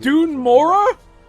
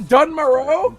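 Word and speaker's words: Dun Morogh: It's pronounced Dunmora? Not Dunmoro?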